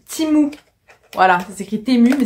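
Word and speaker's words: Temu: timou donc voilà et oui ça se prononce timou voilà ça sécrit temmu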